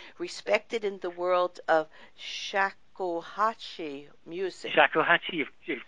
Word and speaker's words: shakuhachi: recording artist internationally respected in the world of shakuhachi music. Shakuhachi, you've pronounced it absolutely correctly.